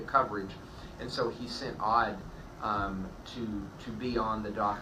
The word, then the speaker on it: Odd: It is pronounced Odd, right?